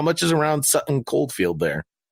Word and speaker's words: Coldfield: a quick moment to say hello to Sutton Cod field in the UK they are the number one place listening to our podcast Oldfield did I say Cod field well I meant cold field listen I mispronounced all those UK places that's